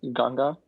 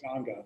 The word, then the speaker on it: Ganga: Oh, it's Ganga River. There's like the EMS, I guess. Ganga, that's right. Yeah, that's right. Ganga.